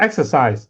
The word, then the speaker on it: exercise: So if the word for exercise the stress is on the first syllable.